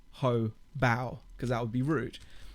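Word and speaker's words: Hobao: the gearbox pier from hub ow um actually that's the brand cabal don't pronounce the first section separately because it could just be sounding a little bit rude so you call it ho bow you know it might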